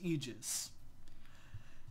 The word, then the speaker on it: Aegis: immortal again it's you just not ages I know it's it's weird but it's pronounced Aegis and uh actually Alchemist